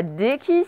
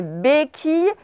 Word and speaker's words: béquille: Attention, ce n'est pas déquille, c'est béquille.